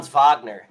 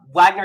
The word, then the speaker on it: Wagner: opportunity for here uh Wagner has been or Wagner I want to say Wagner obviously because that's how it's spelled but Vagner has been struggling with